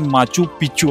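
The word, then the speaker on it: Machu Picchu: आहे इंग्लिश मध्ये जर बोलायला गेल तर प्रोनाउन्सशन माचू पिचू असं होतं जे की अस ऐकायला म्हणजे खूप वेगळ वाटत पण मराठी मध्ये जे प्रोनन्सशन आहे ते आहे मास्कू पिचकू पंधराव्या शतकातील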